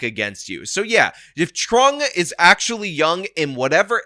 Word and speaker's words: Truong: various local news segments, it is in fact pronounced Truong, which means that this local news lady made